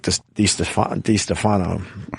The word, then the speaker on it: DiStefano: It is DiStefano, right? Yes, it is. Because I fucked that up for a long time. And then it was Mike DiStefano.